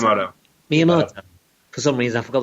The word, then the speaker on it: Miyamoto: Yeah, I mean, like, famously, one of their games, which, we're going to look at later, when Miyamoto, how do you pronounce it? Miyamoto.